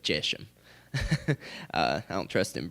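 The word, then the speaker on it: Geshem: a YouTube video of this British guy trying to tell me how to pronounce this and he said it's jisham I don't think it's Jason I'm going to go with jeshem uh I don't trust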